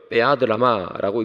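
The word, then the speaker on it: בְּיָד רָמָה: 이 담대히 나갔다 할 때 담대히는 히브리어로 베아드라마라고 읽습니다.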